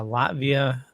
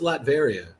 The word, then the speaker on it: Latveria: uh learning that uh latvia uh adores doom oh yeah okay is it i thought it's latveria is it like yeah